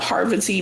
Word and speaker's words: Parvati: Parvati. Parvati. And I'm glad she said it like that because I'm like, she needed to break it down for me because I was saying it wrong this whole time.